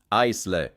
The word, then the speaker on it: aisle: Important, the S is silent, not aisle. Just aisle equals AL2.